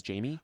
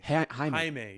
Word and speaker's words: Jaime: I was pronouncing Yame Reyes, because I always pronounce it as Jamie. Oh, Jaime. Jaime, yeah.